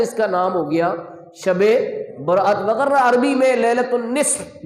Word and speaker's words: شب برات: جیسا کہ شب برات جس کو عرف عام میں لوگ شب رات بولتے ہیں۔ کیا بولتے ہیں؟ شب رات، لیکن اس کا درست تلفظ کیا ہے؟ شب برات۔ برات کا مطلب ہے چھٹکارا، رہائی۔ کہاں سے رہائی؟